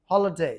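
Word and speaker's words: holiday: যেমন এই ডবলিউ এ Y away না হয়ে হবে আওয়ে যেমন এইচ ও এল আইডি এ ওয়াই আমরা বলি হলিডে বাট এটা হবে হলিডে হলিডে যেমন টিওয়াই এ উচ্চারণ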